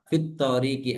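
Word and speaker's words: في الطريق: ya misalnya at thariq ketika dia berdiri sendiri seperti ini maka alif lamnya nya hamzahnya dibaca a at thi thariq gitu ya tapi di saat dia gabung seperti ini maka hamzahnya tidak dibaca bacanya jadinya fit thiki gitu kan ya fit thoriqi alif lamnya tidak dibaca fit thikqi baik jadi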